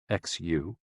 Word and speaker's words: xu: the six sounds are xu pronounced like shh with a deep sigh which is associated with